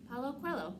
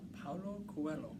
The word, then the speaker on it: Paulo Coelho: Paulo Coelho. Paulo Coelho.